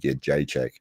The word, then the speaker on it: Jacek: Joanna Jacek, the announcers were struggling so much with saying Jacek that because the way you say it is Jacek, but it's not written that at all.